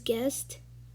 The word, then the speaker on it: guest: word we have is guest um you pronounce it as g-e-s-t guest um the third word